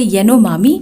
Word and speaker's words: Yanomami: आज का हमारा टॉपिक एक आइसोलेटेड ट्राइब के बारे में है जिसे येनोमामी या फिर येनोमामा भी आप प्रोनाउंस कर सकते हैं।